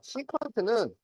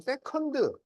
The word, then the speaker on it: 시컨트: 그래서 시컨트는 원래 이렇게 써요. 근데 이게 영어가 아니야. 사인, 코사인, 탄젠트 얘네들은 전부 원래 그리스어예요. 그리스. 그래서 발음을 영어처럼 세컨드 이렇게 하지 않고 이렇게 써놓고 시컨트 이렇게 읽어주는 거야.